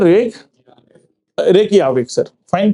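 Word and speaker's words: Reykjavík: क्या बोलना है रेक रेक याविक सर फाइन तो कैपिटल कौन सी है रेक याविक क्यों क्योंकि लैंग्वेज कौन सी यूज़ करते हैं वो आइसलेंडिंग तो आइसलैडिंग में ज को य प्रोनाउंस करते हैं फाइन रेक याविक ठीक है जी।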